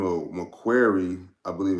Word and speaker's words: Macquarie: And bank goes by the name of Macquarie, I believe it's pronounced.